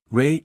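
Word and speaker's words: Rei: Ray equals Ray Chandler. Same pronunciation.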